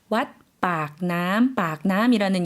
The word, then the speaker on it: 왓 빡남: 그래서 아까 에메랄드 사원과 마찬가지로 왓 빡남이라는 이름이 뒤에 붙었습니다.